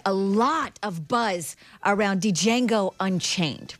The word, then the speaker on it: Django: lot of Buzz around Django Unchained right it's coming on what it's D Jango the D is silent Jimmy Fox explains in